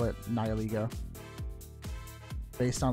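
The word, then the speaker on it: Nihilego: kind of funny is Nile ego and I only do that because his name is based on nihilism and like the ego so I just kind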